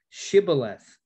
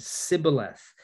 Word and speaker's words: Shibboleth: If he said, 'Nay,' then said they unto him, 'Say now, Shibboleth.' And he said, 'Sibboleth,' for he could not frame to pronounce it right.